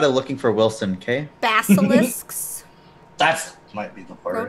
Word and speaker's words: basilisk: Basilisks. That might be the word. Basilisk? Gore-tusks. Gore-tusks. Basilisks? That's what I said, basilisks. You said bacilix.